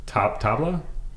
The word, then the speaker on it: tabla: Welcome to the show, Krissy from Sprig of That, who plays, I don't want to mispronounce it. Tabla?